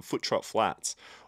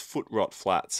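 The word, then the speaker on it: Footrot Flats: store This was um foot trop flats or is it foot rot I think it's foot rot flats and everyone always gets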